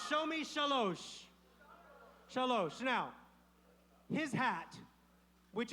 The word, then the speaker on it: shalosh: Shalosh. Show me shalosh.